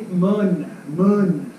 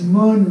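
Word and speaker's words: Mun: on the end but it's actually mud mud it's Moon River so they were correcting me and I didn't understand what they were saying but as it's spelt it's good and tight but in English it's spelt let's still spell mu in but sometimes people spell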